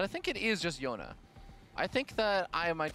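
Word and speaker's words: Joona: No, the J. Jonas. With an S? No, Yona. Yona. I feel like I always hear a Laser say Jonas, but I think it is just Yona.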